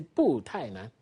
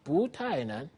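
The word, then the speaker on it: 不太难: The reply was 不太难 You see, 不太难 We don't say 不太难 You see, 不太难 Because 太 is the fourth tone syllable. So we say 不太难 Simple.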